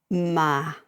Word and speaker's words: Mas: and that's by Victoria Ma I don't know whether she pronounces the S Mass but it's m s so ma that's what I've been taught translated from the French